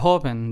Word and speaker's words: joven: Same thing goes with the second word, joven. There are only two syllables, so the syllable that we stress is the first one.